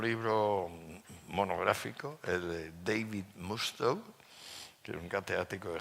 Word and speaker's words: Musto: Y por tanto me disculpo de, digamos, el que dude de mis palabras, consulte a Mustoe. Musto se dice, por cierto, en inglés. Musto se escribe.